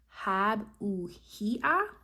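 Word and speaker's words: Habuhiah: And the way you pronounce this angel name is Hab-Uhia.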